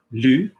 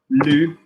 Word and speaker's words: lu: Yeah, if I say lu, which one are you hearing? Top mouth or monkey? So you're hearing lu, L-U, which is I read, j'ai lu.